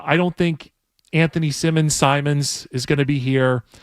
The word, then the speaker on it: Simons: Scaz, how do I pronounce this guy's name again? Simons.